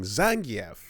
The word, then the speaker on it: Zangief: But like it was like 25 years before the pronunciation was updated in SF5 four after Yeah. four is the one that changed it in four. You got the guy going Zangf, you know, like Yeah.